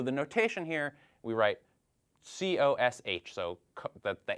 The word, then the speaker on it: cosh: So the notation here, we write COSH, so the H for hyperbolic, so hyperbolic cosine, and usually we pronounce this cosh.